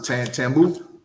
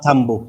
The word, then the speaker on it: Tambo: When we was there, when we got off the plane, the airport alone, how you pronounce it? Tambu? or Tambo, yes.